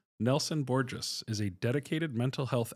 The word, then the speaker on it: Borges: It's Nelson Borges. He would tell you, don't forget the pronunciation. It sounds like gorgeous.